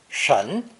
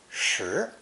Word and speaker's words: 什: Dictionaries list its official pronunciation as 神, but I've never been able to find any phrase or construction in which it's pronounced that way. Spelling it 神 is only useful when inputting the character phonetically. For all intents and purposes, this character is pronounced 十, but then loses its vowel sound in the phrase 什么, meaning what in English,